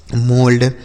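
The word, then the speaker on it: mould: यम ओ एल डी, तो यम से हो गया दोस्तों म, ओ यू का उच्चारण ओ की मात्रा, एल से ल और डी से ड, यह लिखा गया आपका मोल्ड।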